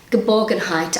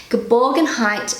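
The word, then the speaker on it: Geborgenheit: word is gerborgen height so my pronunciation goodbyes google pronunciation gaborgen height i love how it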